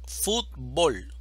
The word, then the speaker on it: fútbol: de la tilde azúcar fútbol división silábica fútbol sílaba tónica Food termina en una consonante diferente de n o s y por lo tanto necesitamos escribirle la tilde a fut fútbol ahora seguimos con trebol